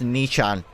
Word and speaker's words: Nietzsche: I was curious what the pronunciation of the Nietzsche philosopher was. Apparently it's Nichan. It's literally Nichan. Like a fucking anime character.